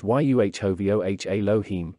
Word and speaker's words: YHVH Elohim: This is pronounced YUHOVOH Elohim, no one syllable being more strongly accented than the other.